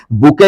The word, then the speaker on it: bouquet: बुके लिखा हुआ है दोस्तों, देखिए इसकी स्पेलिंग एग्जामिनेशन में पूछी जाती है, BOUQUET। लिखा कुछ और जाता है, लेकिन पढ़ा क्या जाता है? बुके पढ़ा जाता है।